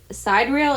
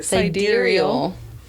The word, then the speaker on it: sidereal: Sidereal is an adjective that first popped up in the 17th century and stems from the Latin word sidereus, which means star.